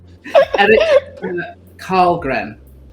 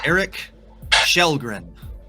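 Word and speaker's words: Källgren: Eric Karlgren. This name is pronounced Eric Shellgren. Another SH sound.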